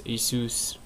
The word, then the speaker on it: ASUS: I thought it was Asus, but it's Asus.